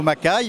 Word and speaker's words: Macay: puis vive le château macaille ce nom sympathique qui qui s'inscrit ou qui s'écrit plus exactement un peu à l'américaine ma parce que l'origine était écossaise et le lieudi était